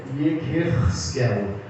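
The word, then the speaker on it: יחזקאל: O nome Ezequiel, do hebraico para o português, Ezequiel, a pronúncia é Yekerskel, que significa Deus fortalece.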